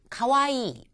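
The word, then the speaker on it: かわいい: 그리고 귀엽다 하는 뜻을 갖는 가와이. 이 이는 이가 두 개가 있으니까 길게 발음하셔야 됩니다.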